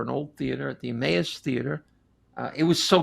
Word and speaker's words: Emmaus: anita wise and i kept calling it e-mouse and then we found out it's emmaus the citizenry pennsylvania emmaus